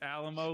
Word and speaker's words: Alamo: it that way because it's alamo like a limo by the way you